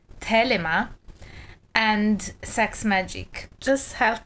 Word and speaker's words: Thelema: And Marco has studied, among other things, Aleister Crowley, the tradition of Thelema, which would be pronounced in Greek Thelema, and sex magic.